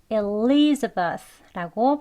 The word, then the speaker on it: Elizabeth: 엘리자베스 이렇게 발음이 있는데요 보시면 한글 엘리로 시작하지 않지요 요게 조금 다릅니다 Elizabeth 아니고요 일 일 하고 시작해요 그래서 Elizabeth라고 발음됩니다 두 번 해 볼게요 Elizabeth